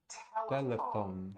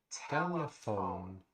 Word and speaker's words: telephone: Telephone. Notice the PH combination in that word is also pronounced as an F. Telephone.